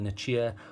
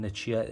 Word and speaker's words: Nichia: So the different flavors it comes in, you can get it in a Nichia or Nicaea, however you want to pronounce that. I call it a Nichia, a 219C.